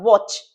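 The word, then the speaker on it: watch: वे के बाद, वॉच. Quickly बोल रहे हैं, नॉट वाली. टी साइलेंट है तो इसे अवॉइड करेंगे.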